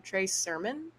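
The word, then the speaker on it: Trey Sermon: moving on we have I'm probably going to pronounce his last name WR Trey Surman you got it yeah awesome okay um try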